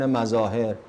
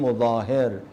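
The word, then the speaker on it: Muzahir: some of my colleagues, even they say Habib ibn Mazahir, and I was saying, Baba, he is not Habib ibn Mazahir, he's Habib ibn Mudahir.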